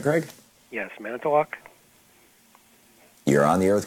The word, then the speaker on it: Manitowoc: Yes, Manitowoc.